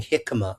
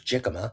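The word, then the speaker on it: jicama: I didn't know how to even pronounce it. I I thought it was Jikima, right?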